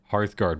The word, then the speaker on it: Hearthguard: fall kite Berserkers auric hearthgard wait oracarth guard hearthgard Berserkers I said Heart Card Berserkers oh and that was the one that